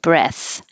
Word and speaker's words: breath: 58, the noun, take a deep breath, has a voiceless th at the end, and the vowel is e, as in head, breath.